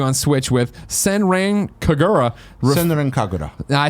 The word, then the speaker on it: Senran Kagura: Senran Kagura.